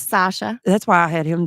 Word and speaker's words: Sasha: and how do you say your name it's Sasha that's why I had him do the introduction